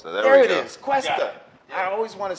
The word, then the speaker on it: Cuesta: is, Cuesta.